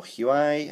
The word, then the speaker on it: Huawei: um we've got um the Huawei logo here or huai however you want to pronounce it there you go